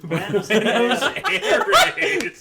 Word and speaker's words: Buenos Aires: Buenos Aires.